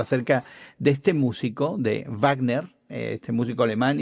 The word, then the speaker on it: Wagner: porque es justamente es eh Wagner, que aprendimos recientemente de Guillermo que así se pronuncia en alemán, el famoso ah músico